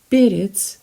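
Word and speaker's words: перец: slutky periods now periods sounds a little bit like a spanish name perez you know perez in south america so peritz the stresses on the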